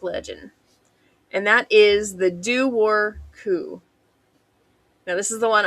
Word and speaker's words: Dobhar-chú: And that is the Dobhar-chú. Now, this is the one I'm very thankful they had a pronunciation for because I would not have said that looking at the spelling.